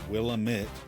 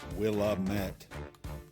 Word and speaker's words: Willamette: The Willamette, by the way, pronounced Willamette, not Willamette.